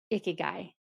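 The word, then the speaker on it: ikigai: is it she has been figuring out her iy guy and if you haven't looked up that term it's spelled ik Ki G AI um it is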